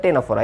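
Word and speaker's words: Ctenophora: ওকে, টেনোফোরা বানানটা একটু অদ্ভুত তাই না? এটা ফার্স্টে সি আছে, একটু কিছু মনে রাখবা।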